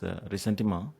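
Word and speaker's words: ressentiment: It is pronounced as recentma but for the sake of simplicity we'll call it resentiment.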